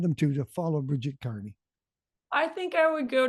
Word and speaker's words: Kearney: keep in touch Bridget Carney but it's spelled ke a r NE y like the other KY Carney uh thank you for